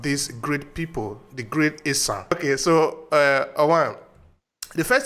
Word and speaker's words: Esan: or Esan, actually, because the Esan is the European didn't know how to pronounce Esan, so they say Esan, but the real name actually is Esan.